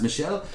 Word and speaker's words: Michel: We are finding, thanks to Michel in France, Paris, that's a male, that's how you pronounce Michel.